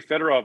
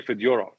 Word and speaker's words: Fedorov: gets easier so so russian names for the most part the accent is on the middle syllable which is interesting because if he kind over if he'd come over 20 years later sergey fedorov would have been sergey